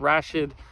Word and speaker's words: Rashid: It's by Mark Rashid, I think it's Rashid is how you pronounce it, R-A-S-H-I-D, Mark Rashid.